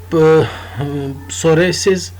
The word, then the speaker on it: psoriasis: So either taken orally or applied locally on the skin to treat psoriasis. Psoriasis is a chronic skin disorder. So इसमें जो P है that is silent. Psoriasis और उसको रोकने के लिए एंटीसोरेटिक agents हमारे पास हैं।